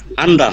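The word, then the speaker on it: 앉다: এটা নিউন আর জিউত আছে ভাই, এখানে ওই যে নিউনের উচ্চারণটা হবে, জিউতের হবে না। গুড, তাহলে বলেন তো উচ্চারণটা কি? এখানে হবে আন্দা।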